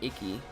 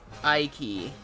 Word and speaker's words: Ike: It is not Iki. Iki! Icky Vicky is pronounced Ike.